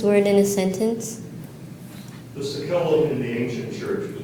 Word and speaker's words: sacellum: Are there any alternate pronunciations? There's one, Sacellum. Sacellum. Can you please use this word in a sentence? The Sakellum in the ancient church was built for exclusive